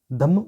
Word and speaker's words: धम्म: असल में देखो मैं आपको एक चीज़ बताता हूँ, जैसे धर्म है ना, पाली और प्राकृत में रा साइलेंट होता है ना। तो ये धर्म जो यही है धम्म, है ना।